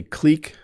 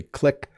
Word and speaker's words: clique: So this word has two pronunciations, and I say clique. Some people say clique.